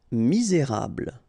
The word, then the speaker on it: misérable: Misérable. Okay, don't insist on the final here. You get this bl sound at the end. Okay, misé, et because you've got this accent aigu, rable, misérable.